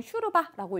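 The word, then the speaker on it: شوربة: 자, 슈루바라고 제가 썼는데 자, 알슈루바투 되어 있죠. 그냥 슈르바라고 읽으면 됩니다.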